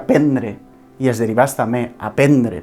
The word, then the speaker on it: prendre: Alguns d'aquests exemples els tenim en verbs com, per exemple, prendre, que s'escriu prendre, però es pronuncia prendre, i els derivats també, aprendre, per exemple.